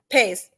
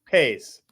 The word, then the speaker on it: Pais: Pais. Pais.